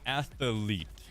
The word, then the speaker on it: athlete: in your day and i can't say it right it's an an athlete i know athlete has three syllables that's amazing ah i